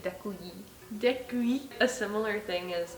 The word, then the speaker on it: děkuji: Thank you is děkuji. Děkuji. Děkuji. Děkuji. Děkuji. And Děkuji. the I is like very like pronounced, like it's like děkuji.